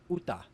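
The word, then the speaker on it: 웃다: So in the word on screen, which means to laugh, the shiat is pronounced like a digat. In this case, we also have a fortis occurring as the sound is the same. So the word is pronounced uta.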